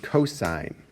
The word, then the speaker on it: cosine: c-o-s-i-n-e and that's read cosine its abbreviation is also just its first three letters again we don't read that as cos we read that as cosine next one is called